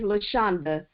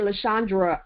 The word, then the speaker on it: Luchanda: spell in tough but people say my name is luchanda i get lashandra all the time i have spelled